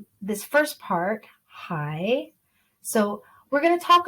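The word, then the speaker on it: 海: down and up and that's what the third tone actually sounds like it goes down and up just like the accent we see here so we pronounce that hi can you hear me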